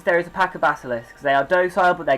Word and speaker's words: basilisk: Okay, Demetrio, so what you know is, you can hear basilisks? I don't know Basilisk. how to pronounce that. Yeah. There is no K. What is it? There's only one K, and that's at the end.